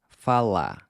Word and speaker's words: falar: Notice how I’m ***barely*** pronouncing the “r” in “falar”. Now, there’s a lot of regional variation in how the final “r” is pronounced, but for our purposes, we’re gonna treat it almost as a silent letter—“fa-LÁ”.